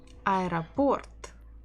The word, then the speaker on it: аэропорт: Аэропорт, аэропорт, аэропорт, аэропорт, аэропорт. My left hand is already tired of showing the stress. Аэропорт, аэропорт. So we stress port, port. The final O is stressed.